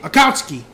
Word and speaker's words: Akatsuki: I can never say it right Akatsuki bucket Akatsuki there we go and uh that's the only